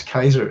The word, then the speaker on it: Caesar: Gaius is the first name of Gaius Julius Caesar, or Gaius Julius Kaiser, if you want to pronounce it right.